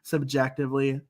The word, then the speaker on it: CBjectively: can listen to more Subjectively Speaking. Yes. So we are Jeremy and Laura, co-hosts of Subjectively Speaking, a Blue Jackets fan podcast that is spelled CBjectively. So it's pronounced subjectively, but obviously CBJ.